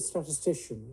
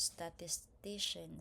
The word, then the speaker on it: statistician: He's a very good statistician statistician. So the syable should be under third syable statistician.